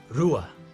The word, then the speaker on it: rua: Number 2 is rua. Number 2 is rua. It's got like an R sound at the beginning.